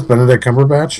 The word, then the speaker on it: Benedict Cumberbatch: Oscars this year isn't that what it is Benedict Cumberbatch yeah that's correct but then you're just like